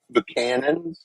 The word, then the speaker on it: Buchanan: Buchanan.